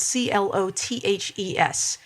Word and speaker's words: clothes: you say that word i would say clothes is that when he even up for grabs well you say close as in close the door close the door and put